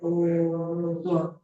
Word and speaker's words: ओम: हम बोलते हैं ना चलिए 70% बोलना है बोल के ले जाना है 30% हमें म बोलना है ओम म ठीक है हां और